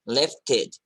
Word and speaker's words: lifted: Lifted, lifted. Okay, lifted. Okay, and here ed is pronounced as id. Lifted, lifted.